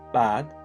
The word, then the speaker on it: bâd: The sound 'A' can be long like 'Â', or half-long like 'Á', or short like 'A'. As is said with the words 'bâd' (pathway), 'bá' (sheep), and 'bach' (thing, article).